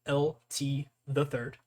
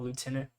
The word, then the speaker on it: LT the Third: So I'm LT the Third. That's how you pronounce it. LT the Third. A lot of people call it Lieutenant. It's fine. Whatever. Yeah, so I'm LT the Third.